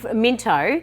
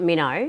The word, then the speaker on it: Minto: Oh, well, Minto. Minto. But the locals call it Minnow.